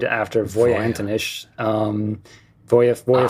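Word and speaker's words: Voja: briefly what is it and how do you pronounce it uh I would go with Voya since it's named after vo Anish um Bo Voya 4 yeah and that was that's kind of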